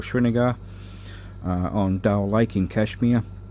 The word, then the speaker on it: Srinagar: I was living on a houseboat for a month at the foothills of the Himalayas in Srinagar, as they pronounce it, or Srinagar, on Dal Lake in Kashmir.